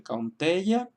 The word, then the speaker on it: Kaunteya: Tenemos el ejemplo de Kaunteya, en el cual estamos también acentuando la segunda sílaba porque contiene una vocal larga, E.